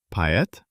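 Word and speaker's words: поэт: A person who writes poetry. Poet. Remember the masking secret of the letter o? I remember. The stress is on e, so o relaxes and sounds like a. It turns out poet.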